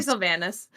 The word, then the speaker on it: Sylvanus: I'm gonna say Sylvanus.